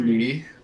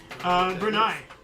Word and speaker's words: Brunei: Bernie, I'm assuming that's how it's pronounced, becomes the 6th member of the Association of the Southeast Asian Nations. Brunei. The nation Brunei.